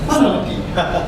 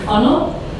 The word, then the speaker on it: Fundnel: Funnel. Oh, it's a silent D. Funnel.